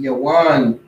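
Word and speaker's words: יָוָן: Their name will be Yawan. That's how you pronounce it in Hebrew.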